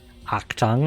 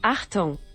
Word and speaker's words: Achtung: Achtung, I think. Because I know that's a word, but like I don't think it's action. It means danger. Yeah. Achtung.